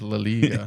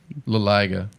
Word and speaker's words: La Liga: La Liga. Anyway. No, we got to teach this guy some culture. I is pronounced as E in I mean, we do the same thing in English.